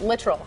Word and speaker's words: Littrell: and he told you he corrected me on the way to pronounce it literal yes yes I'm glad